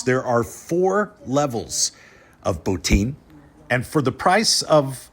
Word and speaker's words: Botín: beams great tile work the Spanish pronounce it boutin so I will as well for consistency's sake now the signature dish here at botin is roast suckling pig